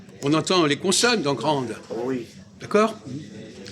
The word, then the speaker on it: grand: Et grand, on n'entend pas la consonne, le D. Ben, il faut le remplacer. On n'entend pas le D dans grand. Non. Il s'écrit, mais ça ne s'entend pas.